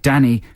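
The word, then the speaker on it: Dani: Dany I would say would you pronounce it Dany I think they we meant to pronounce it Danny but that's just bad spelling yeah need a double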